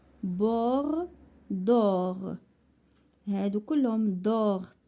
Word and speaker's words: bord: verbe gaspilleur or tort bord d'or هادو كلهم d'or T ne se prononce pas D ne se prononce pas T ne se prononce pas tort bord d'or.